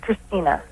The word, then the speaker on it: Christina: I just don't want to get it I don't I don't want I don't want you to say it wrong on the radio. It's Christina.